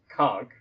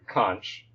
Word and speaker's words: conch: physical animal, this the snail, which is normally pronounced "conch", um but oftentimes in English it gets pronounced to "conch", although that's that's much more modern.